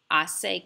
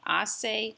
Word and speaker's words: hace: words if they say hace calor then that means it's hot today and this this H you don't pronounce it silent so it sounds like hace calor if they say these